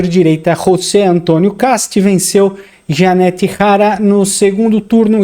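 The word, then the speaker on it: Jeannette Jara: O conservador derrotou a candidata comunista Janette Hara, porque o J se pronuncia R em espanhol, né? Então o candidato de direita Rosé Antônio Castu Janette Hara no segundo turno e foi eleito presidente do Chile nesse domingo.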